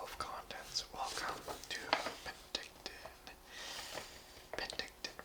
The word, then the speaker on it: Penticton: Penticton, pronounced Penticton, derives from the Okanagan nations.